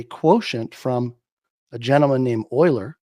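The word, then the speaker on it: Euler: You create an ETF, which by the way is actually a quotient from a gentleman named Oiler. It's spelled E U L E R.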